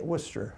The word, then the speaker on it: Worcester: University in Worcester Mass I hope I pronounced Worcester correctly actually as they say Worcester Worcester okay that's all right